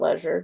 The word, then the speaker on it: leisure: So this was a familial obligation, not leisure travel or leisure travel, depending on how you say it.